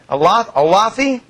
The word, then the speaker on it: Olathe: On the phone right now from Olathe, Kansas. Is that how you say it? Olathe? It's Olathe.